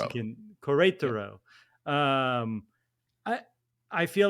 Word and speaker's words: Querétaro: I don't know how to say the name of that Querétaro. Mexican. Querétaro.